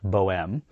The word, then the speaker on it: Bohème: The BO-M (which is short for Bohemian which in French is pronounced Bohème) is New West's least expensive offering starting at $59k Canadian dollars or just $44k USD.